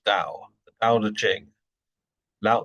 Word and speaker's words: Tao: So, Tao, or spelt Tao, pronounced Tao.